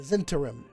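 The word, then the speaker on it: Zhentarim: The Zentarim. Ugh. I've spelled that 4 different ways now. I know I can't pronounce it here.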